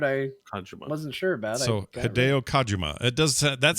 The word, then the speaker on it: Hideo Kojima: Hideo Kojima. Kojima. Well, the part I thought I knew, apparently I didn't, and the part I wasn't sure about. So Hideo Kojima.